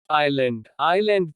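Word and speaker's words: island: कुछ विशेष संयोजनों में S का उच्चारण नहीं होता। आइलैंड द्वीप।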